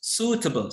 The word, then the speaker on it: suitable: does she think she's suitable so this one okay this word suitable the spelling is wet double but you don't you don't pronounce sweet you pronounce suitable suitable this one right taka